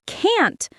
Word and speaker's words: can't: I wanted to say can't, but I said can. Poor Emily. Now, I always pronounce the T clearly in can't.